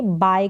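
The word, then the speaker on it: buy: उसको इंग्लिश में कहेंगे बाय करना क्या कहेंगे बाय करना यहां पर यू जो है वो साइलेंट है स्पेलिंग इसकी बी यू वाई रहेगी उधार लेना किसी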